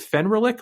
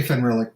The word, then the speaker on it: Fenrilik: which is the the frostlands of is it fenrir lick or fenrylic how do you say it uh i say fun relic but um i've heard both and uh i